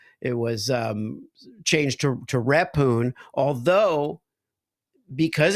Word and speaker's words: Rephun: would learn oh yeah that's a silent h and it's a for Accent on the E and it's rapune well you know you